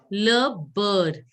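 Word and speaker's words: beurre: Le bird. Wherever you see EU, you have to pronounce it as bird. Bird. Le bird. Like the way you pronounce bird.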